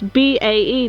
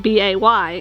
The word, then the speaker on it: BAE: And we got a lot of comments saying it's BAE, not BAY.